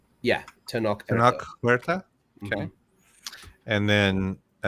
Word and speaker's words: Tenoch: Is it pronounced Tenoch? Yeah, Tenoch Huerta.